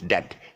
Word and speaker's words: debt: Okay, it's not debt, not D-E-P. You know, if you're owing somebody some money and you have a debt. It's debt, D-E-T. Just throw away the D. You want to get it pronunciation correct. Just throw the D away, the B away, and then say that.